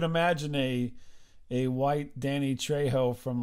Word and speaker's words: Trejo: but uh i'm sorry trevor i'm sorry i pronounced that wrong trejo yes well whatever maybe you're saying it wrong